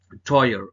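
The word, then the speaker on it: teuer: the car is D AO is expensive the pronunciation of expensive it is toyer it is toyer okay toyer toy means expensive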